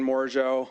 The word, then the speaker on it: Morigeau: Um, my name is Shane Mojo. Uh, last name is spelled M O R I G- E AU.